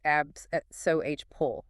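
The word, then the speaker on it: abscopal: The abscapole effect that's pronounced abs pull is the one that really grabs attention.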